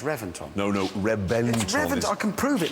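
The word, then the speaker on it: Reventón: No, no, Reventon. Revent. I can prove it. Look, it's got in there. It's got a V. Revventon. No, I know it's spelled with a V, but it's pronounced with a B.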